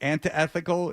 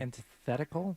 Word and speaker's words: antithetical: And it's not uh is it antethical? Is that how you pronounce it? Because I always say or anti I always say it wrong. Antithetical.